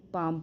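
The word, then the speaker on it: palm: ए एल एम है तो हम य पर काल्म नहीं पढ़ेंगे काम पढ़ेंगे और पाल्म नहीं पढ़ेंगे केवल पाम पढ़ेंगे अच्छा जो वर्ड्स मैं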